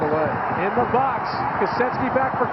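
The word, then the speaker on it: Kosecki: doesn't look like it's it's pronounced differently than it's spelled it looks like koseki but it is ketki and you've done very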